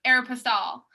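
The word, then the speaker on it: Aéropostale: to my mom so the reason why i say air pastel not aeropostale is because my mom is from mexico so she reads it from like a spanish point of view so yeah i've told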